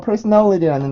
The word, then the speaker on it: personality: 자, 그래서 personality라는 단어를 먼저 보면은 P 발음은 B 발음과 세트 발음이었었죠.